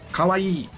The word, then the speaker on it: kawaii: So it's e kawaii.